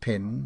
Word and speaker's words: pen: Judy McQuer, says he, her mark, footnote, pin, read pen. It formally was vulgarly pronounced pin in Ireland.